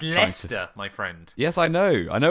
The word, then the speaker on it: Leicester: Like no, it's Leicester. It's Leicester, my friend.